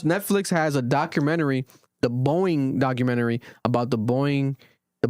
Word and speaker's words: Boeing: I'm making the noise. No, it's Boeing.